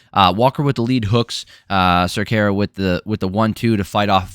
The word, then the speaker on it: Cerqueira: All right, Julius Walker taking on Raffael Cerqueira. Pretty sure that's how you pronounce it. It's how they pronounce it, and I don't know how else you would throw in those vowels.